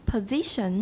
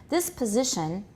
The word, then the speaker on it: position: This position. Position. Z is the tonic stress. This position. This position. Good. And everybody also note the S is pronounced as Z, pz.